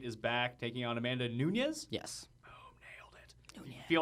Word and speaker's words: Nunes: like I'm learning cuz you say it like was some crazy Italian no that's not one of the that's not one of the Portuguese names that I assume was Italian although now I know